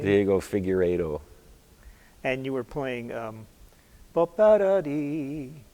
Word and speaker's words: Figueiredo: How do you pronounce his last name? Diego Figueiredo.